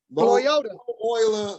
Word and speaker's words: Loyola: Loyola.